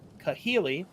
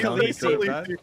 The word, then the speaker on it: Kahili: one, the spiteful one, heard you say her name wrong. I'm pretty sure he said Kahili right. No, I said no. it wrong. I said he Khaleesi. He said Khaleesi.